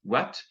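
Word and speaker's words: uait: From you would be wet. Kind of like when something has water on and you say it's wet. It's pronounced very similarly to that.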